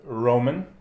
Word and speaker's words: Roman: I don't know, how do you say your name in English? Yeah, it's Roman. Roman. Same, yeah. Roman. Okay. Yeah, it's easy. I'm trying to just switch from Russian pronunciation.